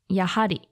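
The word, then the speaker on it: やはり: Finally, the last thing you need to know is about different ways you can pronounce Yappari. One is Yahari and is the more polite form, usually used by service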